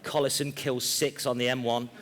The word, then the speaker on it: Collison: notice pectin mark but the pronunciation of Collison is Collison and not collision and the only reason